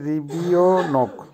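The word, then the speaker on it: ребёнок: রিবিওনোক, রিবিওনোকের অর্থ হবে শিশু বা বাচ্চা বা চাইল্ড, উচ্চারণ হবে রিবিওনোক।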